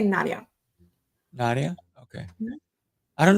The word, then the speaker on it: Nadja: Yeah, Nadja. It's a How do you kind of interesting pronunciation with the D and the J.